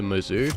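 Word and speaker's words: Mozu: And also, you want to use the Mizzou, that's how you pronounce it, and just high caliber and long barrel until it gets to long barrel too.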